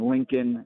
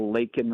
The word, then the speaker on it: Laken: Joe Biden couldn't even pronounce Lincoln Riley's name correctly, and now saying Lincoln instead of Laken Riley, and then to have Laken Riley's family there was incredibly powerful.